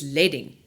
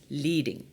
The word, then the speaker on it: leading: to familiarize yourself with is leading not pronounced leading leading is also known